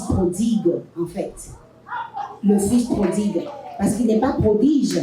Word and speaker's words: prodigue: va toujours parler euh déjà on prononce mal, on dit le fils prodige." C'est pas le fils prodige, c'est le fils prodigue.